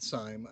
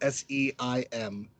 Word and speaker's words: Syme: Um, I think one that I've really enjoyed, I have to say, is Meeple-a-thon, and that's David Syme. I'm pretty sure I said his last name wrong. It's Seim.